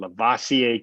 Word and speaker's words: Lavoisier: david daniel brock bowers lavoisier carol remember folks uh think like um think like busta rhymes when you pronounce that first name lavassier carroll one of busta